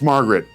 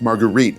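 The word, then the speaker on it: Marguerite: It's not pronounced Margaret. It's Margarite.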